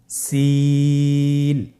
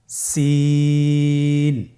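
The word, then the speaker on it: سين: সিন হরফটি বারিক হরফ পাতলা করে উচ্চারণ করতে হবে। তাহলে আমার সাথে বলুন সিন আবার বলুন সিন মাশাআল্লাহ আপনাদের হচ্ছে আলহামদুলিল্লাহ আপনারা চেষ্টা করুন।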